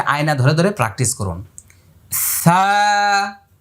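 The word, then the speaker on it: ث: সা, এক আলিফ লম্বা হবে। তারপর এটার মাখরাজ নম্বর কত? 13। জিহ্বার আগা এই দুই দাঁতের আগা।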